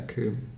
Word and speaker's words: coombe: shore or something, yeah, coombe. And he's clearly used that, so it rhymes with gloom.